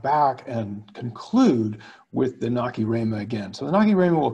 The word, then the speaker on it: Nacirema: Some people do say Nacirema, sometimes I do say it that way, but I noticed when I was looking at the Google YouTube subtitles, that is not the greatest pronunciation for the subtitle. So we'll go with the official Nacirema pronunciation and hope the subtitles work for us.